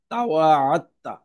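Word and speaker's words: تَوَاعَدْتَ: দাল এবং তা দুইটির একই মাখরাজ হওয়ায় এটার উচ্চারণে একটু ভিন্নতা। সেটি হলো দাল, যেহেতু লাম লাম কালিমাতে দাল, এটা লেখায় থাকবে কিন্তু এটা উচ্চারণে আসবে না। এই জন্য আইন কালিমার আইন যে সরাসরি এই যে যে তা আছে, এই তাকে ধরবে। এই জন্য তায়ের উপরে তারজিদ দিয়ে এখানে উচ্চারণটা হবে তাওয়া আত্তা, এখানে দালের উচ্চারণ আর হবে না।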